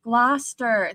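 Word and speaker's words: Gloucester: It's pronounced gluster. Thank you. At least here in the UK.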